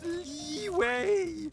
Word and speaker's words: Liyue: It's pronounced Liyue.